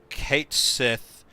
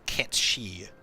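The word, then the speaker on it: Cait Sith: So, Kate Sith is the official pronunciation that f that square uses, but Ketchi is the Gaelic pronunciation and matches the Japanese pronunciation.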